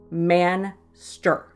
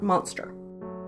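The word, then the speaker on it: Manster: bad enough 1959 monster I did pronounce that right man stir not monster an American reporter in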